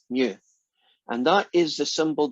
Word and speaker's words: mu: now because that's a census the symbol that i use for the mean is mu right it's pronounced m u new and that is the symbol that you use